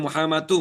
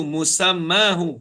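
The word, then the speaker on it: مسماه: Musammahu. Musammahu mutlaqan bila khairil takallumi awil khitabi awil khaybati. Okey. Betulkan tadi. Bukan Muhammadu. Musammahu. Sim mim. Musamma.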